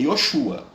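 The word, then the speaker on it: Yeshua: O nome de Jesus mesmo, que a mãe dele chama, ó menino, vem cá, é Yoshua.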